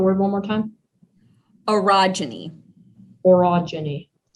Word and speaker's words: orogeny: you repeat the word one more time erogeny orogeny o r o g e n y orogeny that is correct that's the end of